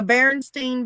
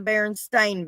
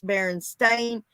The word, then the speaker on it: Berenstain: berenstein bears or the berenstain bears we all grew up knowing that it was berenstein spelt with an e-i-n yes now now they're saying no that's not true it's baron stain spelled a-i-n right um ed mcmahon